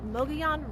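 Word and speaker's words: Mogollon: now my son I am stopped at the Mion Rim that's how you say it by the way Mogan Rim visitors center right off the a 260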